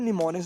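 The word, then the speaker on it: mnemonics: मिसाल दे रहा है, जिस तरह निमोनिक्स, जिसका एम साइलेंट है उसको निमोनिक पढ़ेंगे।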